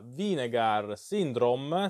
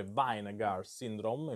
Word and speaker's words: Vinegar Syndrome: si tratta dell'edizione della di negar syndrome spero di averlo cominciato bene questa volta perché dicevo sempre weingart syndrome invece mi è stato fatto notare che la pronuncia era sbagliata di negar sindrome dedicato alla camer keaton